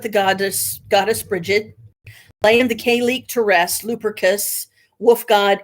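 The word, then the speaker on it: Cailleach: sun, were ruled by the K-leek. I don't know if I'm pronouncing that right, but it's spelled Cailek. Leach, or as she is sometimes called, the Kayleek Beur, Bheur, a Scottish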